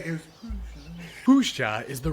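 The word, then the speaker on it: Puszcza: we should just, Puzda, at least they were like, there are people gonna have problems pronouncing this. Let's put this. Pushcha.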